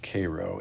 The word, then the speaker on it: Cairo: I believe that's in Cairo, spelled like Cairo, but it's pronounced Cairo, Illinois.